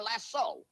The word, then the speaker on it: lasso: How is it that a cowboy can make a lariat or a lasso, L-A-S-S-O, often mispronounced lasso?